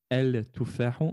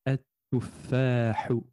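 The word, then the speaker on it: التفاح: El tuffahu, on va venir effacer dans la prononciation le lem de l'article défini el et on va dire et tuffahu.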